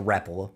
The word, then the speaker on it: Rapala: A Rapala, let me pronounce it correctly, for anybody who might be watching.